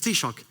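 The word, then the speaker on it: Taoiseach: by the head of the Irish government the t-shock and you can only imagine how I butchered the pronunciation of this word first time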